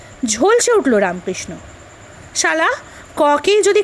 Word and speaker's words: ক: রামকৃষ্ণ বললে, বল ক। লাটু উচ্চারণ করলে কা। ওরে কা নয় ক, বল ক।